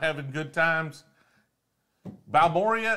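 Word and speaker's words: Balmorhea: Balmoria is said Balmoray. That's not what it looks like, man.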